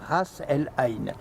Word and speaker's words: Ras El Ain: Vous êtes manager on duty, le directeur général de ce bel hôtel Ras El Ain. Oui. J'ai bien prononcé?